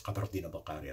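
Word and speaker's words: Kabardino-Balkaria: I don't know how to say it with an American accent, but it's Qabardino-Balkaria. That's what we call it.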